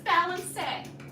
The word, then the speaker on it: balancé: Okay, now with the Soutenu, so that was balancé. You spell it like balance.